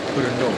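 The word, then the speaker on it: Brno: konsonan yang berjajar eh orang lokal menyebutnya dengan e kota e berno kota berno adalah e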